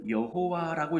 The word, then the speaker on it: 여호와: 4개의 단어로만 이루어져 있어요 그래서 이것을 잃는 방식이 다양해서 그래서 이것을 여호와라고 읽어서 오늘 본문에 나오는 여호와라는 이름이 여기서 나온 거고 나는 스스로 있는 자다이 이름이 여호와 그런데 요즘 새롭게 있는 방법이 달라졌다 해서 야훼라고도 부릅니다 그래서 여호와 또는 야훼 이게 하나님의 이름인 거예요